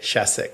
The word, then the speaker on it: Shasek: So, how do you say it? Shassic. Shassic. I've never said it like that.